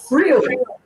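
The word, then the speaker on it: Vril: in German, it's pronounced Frill. The way you pronounce, the V is pronounced like an F, so it's the same sound.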